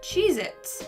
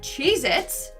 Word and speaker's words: Cheez-It: number 9 we have cheez-its but apparently that tasty cheese cracker is not called cheez-its it's cheez-it either i've been saying